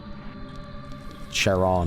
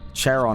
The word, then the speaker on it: Charon: Charon is actually pronounced something like Karen.